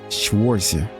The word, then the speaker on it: Schwarzer: Schwarzer.